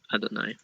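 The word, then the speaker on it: אֲדֹנָי: So you pronounce it Adonai.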